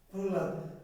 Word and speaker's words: প্রহ্লাদ: প্রহ্লাদ হয়ের উচ্চারণটা বেশি হচ্ছে, লটা হালকা সফট হয়ে যাচ্ছে।